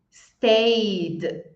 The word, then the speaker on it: stayed: Então, não é listened, called, stayed. É listened, called, stayed. Fala o verbo e coloca um de.